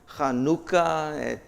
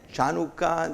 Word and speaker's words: Chanukah: And it was translated, here we have Strong's number, and it is pronounced Chanukah, Chanukah.